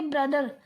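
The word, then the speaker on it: brother: इसको क्या प्रोनाउंस करेंगे, ब्रदर, ब्रदर नहीं करेंगे, ब्रदर, ब्रदर करेंगे, ठीक है।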